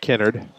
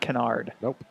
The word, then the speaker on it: Kennard: in that was gage Kennard with the carry know if is this on the second syllable in Mount Carmel so you're saying it's not canard Lisa's last want to